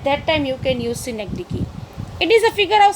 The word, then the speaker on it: synecdoche: Some are pronouncing doke, but it is not like synecdoche.